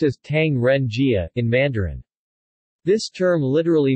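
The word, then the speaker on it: 唐人街: Tong the 4th of January for galley one pronounced as Tang Ren Jia in Mandarin this term literally means street of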